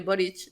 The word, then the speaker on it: Boric: tiene raíces de Croacia en croata la c se pronuncia como ch o se pronunciaría en castellano como ch entonces por eso se